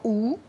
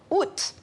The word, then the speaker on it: août: de où étaient mes au québec et en belgique la plupart des gens disent encore où mais en france et en suisse la majorité prononce maintenant août ça a changé au cours du 20e siècle en raison pense notre